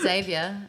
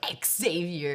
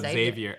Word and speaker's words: Xavier: to fix that I keep forgetting it's just Xavier by the way that's how he say his name I don't know why Americans are like Exavier it's just Xavier oh yeah yeah Xavier that's it how'd that